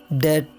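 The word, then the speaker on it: debt: तो जब बी के बाद टी आए तो बी साइलेंट रहता है, जैसे डेट, सटल, डाउट, सटलाइज। और इसी तरह जब बी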